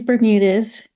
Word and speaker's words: Bermudez: How do you actually pronounce it properly? Yeah, it's okay. It's Bermudez. Bermudez.